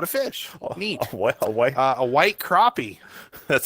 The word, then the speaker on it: crappie: A white crappie. That's how you White pronounce it.